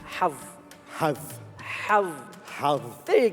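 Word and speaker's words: حظ: So the way to pronounce this is saying hav.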